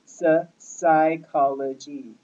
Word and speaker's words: psychology: So first you got the PS. That's kind of disorienting. A lot of people think that's like P, but actually because it has a PS there, it's psychology.